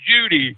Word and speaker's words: Judy: Yeah, she pronounced her name Judy, Jude. I called her Jude. She said it's Judy. Okay. So, Judy.